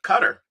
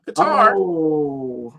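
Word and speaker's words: Qatar: Think about how long it was before we learned how to properly pronounce uh cutter. Not guitar.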